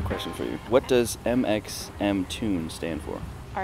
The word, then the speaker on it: mxmtoon: So it stands for my initials, MXMT, and then the tune was actually made originally by my dad.